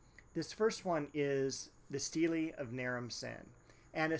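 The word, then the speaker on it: stele: about a couple steelies or sometimes they are pronounced steels this first one is the steely of nerum sin and a steely i should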